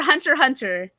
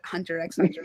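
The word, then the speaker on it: Hunter × Hunter: Hunter. He said the X is silent in Hunter and I said Hunter X Hunter.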